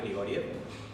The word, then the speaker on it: Grigorjev: Si me permiten, bueno, mi nombre es Grigoriev, se pronuncia así, el apellido tiene una J en el medio, es Grigorjev, así como la ciudad de Kiev, que se escribe KJEV, corta.